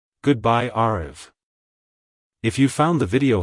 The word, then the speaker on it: Aarav: sound at the end the r is pronounced softly almost like a gentle D sound like Hello arv Goodbye arv if you found the